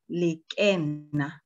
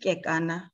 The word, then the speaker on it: Lekena: Okay, I'll start off by saying my name is Lekena, not Kekana, not Lekana, but Lekena.